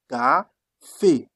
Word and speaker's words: café: That's why you took the sound K, became café, because you have A, café, that is coffee.